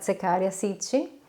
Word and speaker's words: Zecharia Sitchin: trata de secaria sitchin no sé en el idioma de ustedes cómo lo pronuncian aquí se se pronuncia secaria sichi y ha escrito más